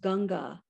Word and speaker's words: Ganges: are sacred to india the most famous being ganges pronounced ganga in the vernacular the gangetic plain results